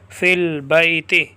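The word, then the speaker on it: في البيت: حمزۃ الوصل کہتے ہیں۔ تلفظ سے ساقط ہو جائے گا، تلفظ سے۔ پھر اس حمزہ کے ساتھ کبھی واو بھی گر جاتی ہے جیسے وَأَسَرُّ النَّجْوَىٰ، کبھی یا بھی گر جاتی ہے جیسے فِي الْبَيْتِ، جیسے دیکھو البیت، اب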